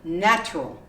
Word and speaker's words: natural: would be another word natural you omit the a so right here we